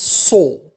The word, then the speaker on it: saw: We have the verb to see, in the past becomes saw, a pronounced o, lamaha.